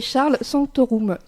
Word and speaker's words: Charles Sanctorum: Avec nous en studio, Jacinta Nabi et Charles Sanctorum. C'est comme ça qu'on prononce vos prénoms à tous les deux et vos noms ?